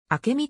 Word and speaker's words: 明海: の所在地の浦安市明海の地名は明美と読む社会性創造性